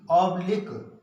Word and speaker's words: oblique: एक बार फिर से सुन लीजिए, जब किसी शब्द के अंत में क्यू यू ई का प्रयोग हुआ हो या आए तो क्यू का उच्चारण का पढ़ा जाता है।